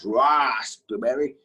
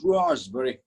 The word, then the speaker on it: raspberry: there's something like that it is not raspberry it is raw's very raspberry i like some raspberry